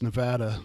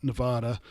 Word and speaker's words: Nevada: scheduled for reno nevada and that's how you pronounce it by the way it's nevada not nevada it's going to happen in reno nevada over